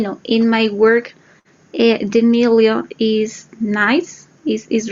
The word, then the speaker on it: milieu: Like milieu is a French word, so that's kind of hard to say, milieu.